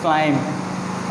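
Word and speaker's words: climb: Okay, ये जो examples थी ये किसकी थी, एम और बी की, जिसमें से एम जो है वो अपना साउंड दे रहा था लेकिन बी जो है वो क्या है, यहाँ पे एज अ साइलेंट लेटर काम कर रहा है।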